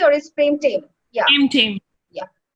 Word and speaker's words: Prem Tame: Prem Tame. Yeah. Prem Tame, T-A-M-E Tame. So, it's not just Bengali Prem Tame.